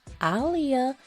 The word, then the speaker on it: Aaliyah: she did and yes her name is pronounced Alia I saw in one